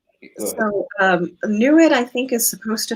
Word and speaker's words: NEID: Yeah, it's called NEWID, but it's spelled NEID.